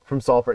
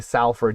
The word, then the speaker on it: Salford: So he's from Prestwich, which this means something really dramatic to somebody from Salford. And you if you ever say Salford, you get stabbed. There's it's salt, it's Salford.